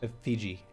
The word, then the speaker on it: effigy: Effigy. That's how it's pronounced.